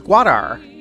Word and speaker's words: Gwadar: This is Gwadar. Not Gwadar. Gwadar. I'm an American, so Gwadar and Gwadar are basically pronounced the same.